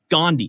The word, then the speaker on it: Gandhi: box it's a robotic gandhi oh sorry i'm saying that wrong gandhi but they spell it g-a-n-d-h-i gandhi dashbots gandhi gandhi yeah